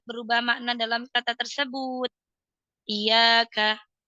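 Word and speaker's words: إِيَّاكَ: laaha lalu pada kata iyaka jika tidak sempurna tasdidnya maka akan dapat berubah makna dalam kata tersebut iyaka iyaka salah harusnya ada dua Iya iyaka iyaka tanbih pada kata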